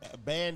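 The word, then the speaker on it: Bain: It's Ban United. Ban United, yeah, all but right. you can say it how it's spelled, B-A-I-N.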